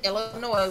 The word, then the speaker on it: Illinois: to my mom and I said Illinois's and she goes wait what it's just ghost no sweetie Illinois mm-hmm it almost